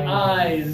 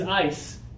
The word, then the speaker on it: eyes: we're going to pronounce it more like with the z sound again put the hand up touch right here give me eyes feel the vibration yes yeah okay you